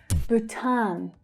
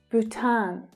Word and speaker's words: Bhutan: Bhutan, Bhutan. So again, there is a long vowel sound in the first syllable, but the second syllable is the stressed one.